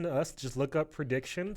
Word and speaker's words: Preediction: So anytime you want to listen to us, just look up Prediction, spelled, it's 2 E's actually, spelled like the normal word otherwise.